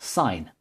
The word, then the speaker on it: sine: So this distance here is equal to the sine of the angle theta, abbreviated to sin, but pronounced sine.